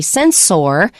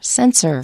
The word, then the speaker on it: sensor: And the other thing is we don't say sensor. Even though it's spelled O-R, we say sensor.